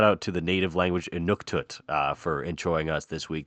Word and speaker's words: Inuktitut: Sorry, let me pronounce that correctly. Inuktitut language, which is the first Canadian native language to ever be added to Google Translate.